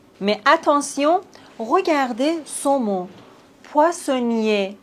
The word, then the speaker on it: poissonnier: Poissonnier. Ici, on ne prononce pas le R. Poissonnier. Mais regardez ce mot. Poissonnière. Ici, on doit prononcer le R parce qu'il y a un E après le R.